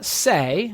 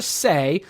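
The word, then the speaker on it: Cseh: was logged by Patricia Say, I think is how you pronounce it, C-S-E-H, Patricia Say of Indiana, who was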